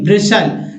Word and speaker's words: bristle: फिर देखिए BRISTLE, ब्रिसल, टी नहीं पढ़ना है, ब्रिसल, ब्रिसल में रोंगटे खड़ा करना।